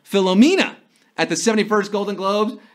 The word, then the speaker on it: Philomena: he was suffering from Philomania. Well, that's how Leonardo DiCaprio pronounced the phenomenal Philomena at the 71st Golden Globes, and we're down to 24.